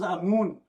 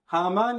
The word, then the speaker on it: Haman: Also referred to as Amun. Haman is the Arabic pronunciation.